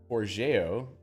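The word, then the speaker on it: Forgejo: Big E says, well, I've been pronouncing Forge, Joe, for a while now. Today I learned. Yes, I had to learn that too. I don't know where I learned it from, but apparently Forgeo is Esperanto for Forge.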